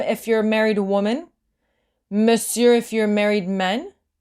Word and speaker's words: monsieur: is monsieur. So here it's tricky. It's spelled completely different from how you pronounce it.